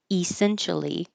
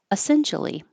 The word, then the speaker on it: essentially: this word essentially and you can say e essentially that's totally correct but the E is not stressed so it's likely that